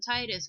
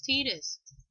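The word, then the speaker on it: Tidus: all look at tetus I can't believe I called him tetus because I typically call him Titus but the actual pronunciation is tetus my niece whom I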